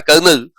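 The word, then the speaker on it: colonel: Army army का एक post होता है कर्नल। उसमें आर नहीं होता है। कर्नल का spelling C ओ एल ओ एन ई एल है।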